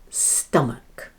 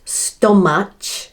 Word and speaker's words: stomach: And now the last word is stomach. Not stomach, but stomach. So the STO sounds like sta. Sta. And match sounds like muck, as in McDonald's.